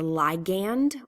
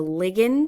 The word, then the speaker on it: ligand: The signaling molecule, we can call this the ligand or the ligand. It's pronounced both ways.